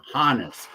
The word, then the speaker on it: Hannes: So Johannes then being anglicized into Hannes, not Honus. Plus, right. The director of the Hannes Wagner Museum says that's how it's pronounced.